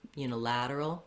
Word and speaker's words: unilateral: You're always going to have the stress on the lad syllable, the la, unilateral, bilateral, trilateral.